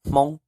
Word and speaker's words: Hmoob: Then we have Hmoob, which is Hmong, Hmong, which means Hmong.